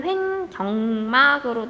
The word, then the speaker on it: 횡격막: 발음이 횡격막으로 돼가지고 경이라고 쓰는 친구들이 많은데 횡격막이다.